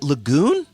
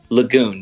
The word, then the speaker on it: LaGoon: Now, do you pronounce it LaGoon? LaGoon, yep.